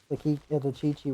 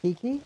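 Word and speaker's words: Qiqi: Okay, well, back to the Chi-Chi walk. Do I just call it Kiki, or do I stick with the actual way to pronounce it? It's the Chinese way, I think.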